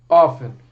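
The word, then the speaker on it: often: é o primeiro Ofner realmente no inglês estadunidense não se pronuncia o t para quem é fã de Big Bang Theory vocês estão ligados que por exemplo o Sheldon detesta quando as pessoas pronunciam o t do Ofner porém vamos lá ó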